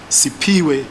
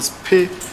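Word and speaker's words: Siphiwe: A sixth witness called Sipiwe, or Spe, it's spelled S-I-P-H-W-E, could not compile any faces, but he mentioned that he saw an old green/blue sedan near the danger box.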